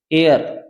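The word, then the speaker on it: heir: बोलते हैं उत्तराधिकारी क्या बोलते हैं अभी उत्तराधिकारी एयर य ए साइलेंट है इससे पहले एन आर्टिकल आएगा यह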